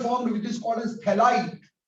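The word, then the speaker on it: phthalide: So this is ester formed which is called as थैलाइड। PH silent है, क्या बोलेंगे इसको, थैलाइड की फॉर्मेशन।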